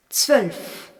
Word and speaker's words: zwölf: Le O se prononce O en allemand, mais le O umlaut se prononce E.